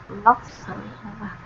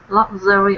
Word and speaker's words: luxury: luxury. Yeah, he's living in the lap of luxury or luxury. Luxury. Like television. It's that j sound.